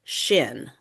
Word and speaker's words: CSHN: So nationwide people abbreviate that as Cshn and they pronounce it shin like you know your shin bone.